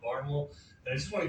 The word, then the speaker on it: Barnwell: from a small town in South Carolina called Barnwal. And I just want to give you a quick pronunciation guide because it looks like it's pronounced Barnwell, but I'm going to be saying Barnwell all the time.